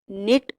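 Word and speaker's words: knit: form दी हुई है निट अब इसमें के प्रोनाउंस नहीं करना निट फर्स्ट फॉर्म टेड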